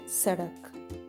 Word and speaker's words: सड़क: So the pronunciation of D is as of Ada, as in Sadak.